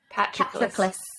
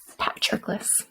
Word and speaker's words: Patroclus: How are we going to pronounce his name, ladies? Patroclus. Patroclus. There It's you go. like Patrick Lewis, but not.